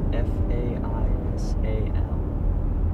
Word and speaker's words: Faisal: F-A-I-S-A-L. Faisal. It's Arabic in origin, actually. And the correct pronunciation is Faisal.